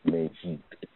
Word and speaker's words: Meji: And that particular Odu is Okoran Meji. Okoran Meji. Okoran is O-K-A-N-R-A-N. Okay, Meji is spelled M-E-J-I.